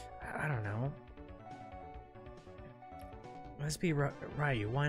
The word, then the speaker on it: Ryu: Jean says, actually it's pronounced Ryu.